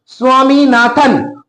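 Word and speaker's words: Swaminathan: তোমাদের মতন বাচ্চা ছেলে যার নাম নাম হচ্ছে স্বামীনাথন উচ্চারণ দেখব যেন উচ্চারণে প্রবলেম না হয় প্রনাউন্সিয়েশন দেখবে ভালো করে স্বামীনাথন হু ইজ আনলিং unwilling আনলিং willing মানে কি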